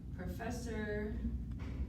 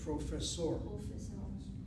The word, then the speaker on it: פרופסור: לא, אני לא סטודנט, אני פרופסור ואת. Okay, you got that right. The word professor is too anglicized. I need professor. פרופסור.